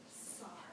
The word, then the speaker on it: Sar: My name is Mrs. Sar. Rhymes with star.